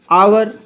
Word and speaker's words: hour: अब देखिए इसका उच्चारण क्या हो रहा है, आवर, आ से शुरू हो रहा है और आ